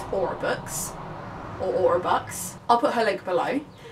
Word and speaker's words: Aurabux: A-U-R-A-B-U-X. Aurabux? I guess, yeah, Aurabux makes more sense than Aurabux. It's just B-U-X books, yeah.